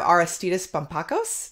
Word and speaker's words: Aristeidis Bampakos: a little bit more and today we have arastidus pompacos did i say it right yeah hello uh yes your the pronunciation of my name it's a bit difficult